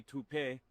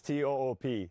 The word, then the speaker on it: Toop: Uh Maybe toupee. Could be toupee. Yeah, I don't know. Or Toop Insurance? Maybe? No, I don't think so. Say it right. That's t o o p. That's Toop.